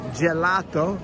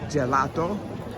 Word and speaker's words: gelato: So G A gate G E gelato has that J sound G before the E gelato.